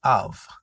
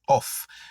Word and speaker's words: of: So, en aller, nous gagnons of. Of, O-F. Moun yo kon gen tendance prononcer off. Off là c'est O-2-F. Mais O-F là lui-même c'est of.